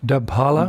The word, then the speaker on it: Dabhala: Tungavidya's village, well, it's pronounced in different ways, but generally it's known as Dabhala.